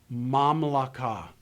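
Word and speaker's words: מַמְלָכָה: You learned in the last lesson a very simple principle to recognize that this is a silent schwa. But let's put it into this framework of our new material. Closed, unaccented syllables take short vowels. I look at this word, I see the patach, the short A under the mem. I know immediately that the syllable has to be closed.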